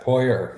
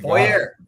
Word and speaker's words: Poirier: Is that how it's pronounced? Yes, Poirier. Yep. Poirier.